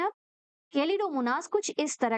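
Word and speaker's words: Chlamydomonas: नाम अच्छे से सुनोगे कैलिडोमोनास ए एच जो रहता है वो साइलेंट रहता है कैलिडोमोनास और स्पाइरोोगाइरा स्पाइरोगाइरा इस तरह के लंबे-लंबे स्ट्रक्चर रहते हैं।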